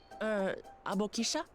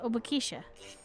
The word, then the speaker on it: Obokisha: Abokisha? Ah, that's how you say it, Obokisha.